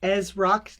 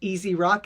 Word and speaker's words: EzzRock: So, uh, for those that don't know me, uh, my name is Ezro, not Easy Rock as a lot of people pronounce it.